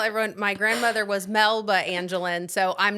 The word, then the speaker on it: Angeline: Everyone says Angeline because it's spelled like Angeline, so it's fair.